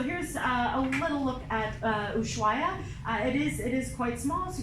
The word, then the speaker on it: Ushuaia: Now it starts and ends in another tricky to pronounce city. This is Ushuaia. Ushuaia is the southern tip of Argentina, and that's where our adventure will begin.